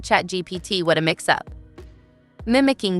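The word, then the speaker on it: ChatGPT: Kimmel chuckled Don Jr hilariously mispronounced the AI chatbot name as chat GTP not chat GPT what a mix up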